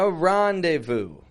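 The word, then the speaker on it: rendezvous: cafe with his fiance a randevu another two-part word this is using two French words and it's a very common English expression a randevu is when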